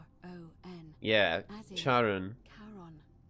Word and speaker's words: Charon: The name you heard wasn't Karen. It was Charon.